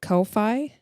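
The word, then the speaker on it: Ko-fi: Kofi, because there's no fee.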